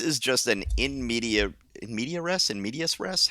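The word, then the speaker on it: in medias res: just an inmedia inmedia inm medius rest how do you pronounce that medius with an S people always leave off the S inm medius res uh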